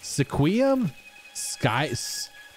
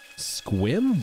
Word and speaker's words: Sequim: Sequim? Squim? What? Squim? It's pronounced squim?